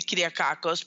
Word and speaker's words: Kyriakakos: right I want them to be able to pronounce my name correctly clear Karkos because I think it's like learning a foreign